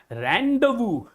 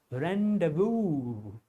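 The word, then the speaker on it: rendezvous: Just you have to just spell out these letters and all the rest are silent like zed is silent, U is silent, S is silent.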